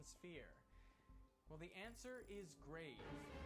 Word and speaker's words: grave: Well, the answer is grave. Or rather, grave, as it would have been pronounced in the original French.